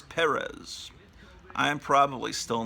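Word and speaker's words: Pérez: And then they start the thing over again with George Perez, which I used to pronounce Perez, but I think I've been told that it's Perez.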